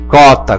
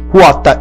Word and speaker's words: quota: Se estivesse escrito com CUA, CUO, até concordo, 14, cota, cotidiano, mas escrito com QA, QO, esse U tem que ser pronunciado. Então, sempre leia corretamente, 14, quota e cotidiano.